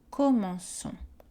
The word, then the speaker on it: commençons: Pour préserver le S du verbe, on utilise un C cédille. Les exemples au présent avec nous, radical commence, terminaison ONS, nous commençons. À l'imparfait, radical commence plus terminaison AIS, je commençais.